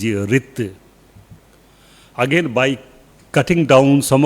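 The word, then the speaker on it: ฤทธิ์: Idhi, in Pali, in Thai, this is the Riddhi, but pronunciation is Rit.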